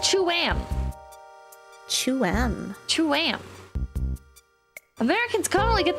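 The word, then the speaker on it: Tuam: thing I'm reading says it's pronounced Cham Cham Cham Americans conally get this wrong by pronouncing it 2am in fact they are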